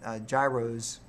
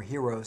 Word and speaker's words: gyros: I became a big fan of eating gyros or heroes, however you want to pronounce it, in Paris and even in southern France as well, and even in Amsterdam they had some of that.